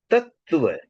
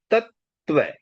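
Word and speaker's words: तत्त्व: उसके बाद में त्व तत् त्व इसका उच्चारण भी इस तरह से होता है तत्व तत्व तत्व मतलब हम कई बार त के बाद में दो बार त का उच्चारण नहीं करके एक ही बार करते हैं इसको भी ध्यान रखना है तो पहला जो तत्व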